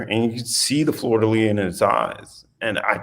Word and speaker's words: fleur-de-lis: What was the thought process of putting the fleur-de-lis? Is that fleur-de-lis? Fleur-de-lis. Okay. Does not pronounce the last little bit. That's what they hit me with that. They just have some letters they don't quite pronounce.